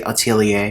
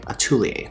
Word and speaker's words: atelier: to me he said americans say atelier but french say attoulie or the french say atulie so i like to